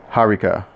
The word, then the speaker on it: Hariqa: and so the way he spelled it it should sound like Haruka so hopefully I'm saying